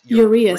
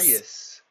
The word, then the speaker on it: Uraeus: I think what it stands for, and it's Uraeus. Uraeus. Uraeus. I'm actually going to pronounce it right and say it correctly for you guys for once.